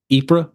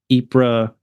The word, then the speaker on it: Ypres: And this is when they were moved even further east into Ypres. Is that how you pronounce it? Yes. Yep. Ypres.